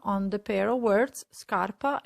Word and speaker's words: scarpa: as you can see they only differ for the letter i which makes a huge difference because the i tells us that instead of a heart sound scar we need to soften the sound and pronounce sha as a memory tip